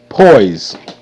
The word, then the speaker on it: poise: okay that moving on Poise p o po Poise Poise okay e is silent and S make the z sound Z po po Z